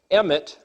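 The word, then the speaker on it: אמת: a womb the word aleph mem Tov is pronounced in English Emmett which is the word truth so the word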